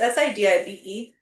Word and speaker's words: Sidibe: But our star is Gabori Sidibe. Sidibe? It's Sidibe. Um, Yeah, I don't so know. it's either Sidibe or Sidiba or something.